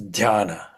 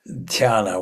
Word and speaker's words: Dhyana: Then of course when we talk about meditation by the way Diana is the a Greek goddess as I understand it a Greco Roman goddess is dana is the pronunciation okay dana. What is dana?